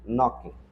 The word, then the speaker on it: knocking: Nesse caso, a o que vai acontecer é do K e do G, eles não vão sair. Então, o som dessa palavra vai ser assim, ó, knocking. Knocking the D.